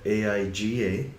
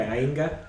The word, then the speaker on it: Aiga: So it's spelled AIGA. So some people have trouble pronouncing it. Yeah. So But it sounds like there's an ing sound in there, right? Right. Okay, Ainga.